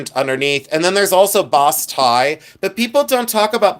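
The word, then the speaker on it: basse-taille: But boss tie, if you look up boss tie enamel, that's the way it's pronounced, at least in Ohio. Boss tie is B-A-I.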